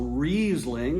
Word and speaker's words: Riesling: When an I follows an E, it's a long I. When an E follows an I, it's a long E. So Riesling is spelled R-I-E, right? S-L-I-N-G. So it's Riesling.